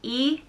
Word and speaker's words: Ennis: surname next up is ennis which means island it's spelt e-n-n-i-s and it's pronounced like dennis without the d e niss ennis and